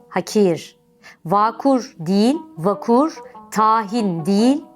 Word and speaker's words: hakir: örnekler nasip değil nasip hakir değil hakir vakur değil vakur tahin